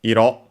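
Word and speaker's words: 色: It's actually the repetition of Iro on its own, accented on the last syllable, and means color and other extended meanings.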